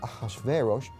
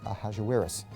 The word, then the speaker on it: Ahasuerus: His Persian name, in Old Persian, which is his original native language, is Shayarsha. Now that was hard for the Jews to pronounce, so they said Ahasuerus. We know him as Ahasuerus. And the Greeks said Xerxes, which is Xerxes, okay?